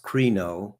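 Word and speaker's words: κρίνω: This is a Greek word pronounced krino, and so we'll look up the definition of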